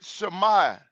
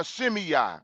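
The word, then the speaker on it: Shimei: We're also going to deal with Shmai or Shimi as some people pronounce his name.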